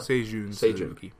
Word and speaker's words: Seijun Suzuki: You pronounce all of that? Seijun Suzuki.